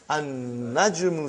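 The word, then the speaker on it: النجم: Now we have an-najmu. So how will you pronounce, brother?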